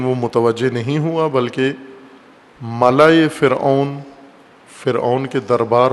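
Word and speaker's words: ملأ: ملا ملاح نہیں ہے، بعض غلط تلفظ کرتے ہیں. ملا، میم لام الف حمزہ، ملا، جیسے خلا ہوتا ہے، خلا، غلط تلفظ خلا کرتے ہیں اردو میں، یا اردو سے ملتی جلتی زبانوں میں خلا نہیں ہوتا، خلا، اور اسی وزن پر ہے ملا.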